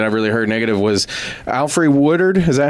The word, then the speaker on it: Alfre Woodard: the other thing that's even you mentioned, like the only thing that I really heard negative was Alfre Woodard.